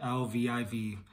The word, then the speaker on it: Lviv: I believe that's how you pronounce it, Lviv.